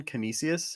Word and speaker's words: Canisius: Canisius? Is that what it's called? Yeah, Vish? Canisius.